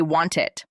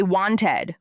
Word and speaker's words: wanted: The word wanted, do not say wanted. Say wanted with a soft t sound in the middle.